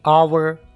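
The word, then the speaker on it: hour: होते हैं, ठीक है, जैसे कि आवर, यहाँ पर एच शुरू में आ गया, यहाँ पर हम एच को साइलेंट रखेंगे। आवर, क्योंकि इसके बाद ओ आ गया, ठीक है, तो यहाँ पर इसकी जो साउंड्स होगी वो नहीं होगी, इसको साइलेंट रखेंगे।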